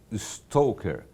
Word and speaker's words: stalker: bocadinho mais sobre o stoker. Escreve-se stalker stalker, mas o pronúncia é stalker.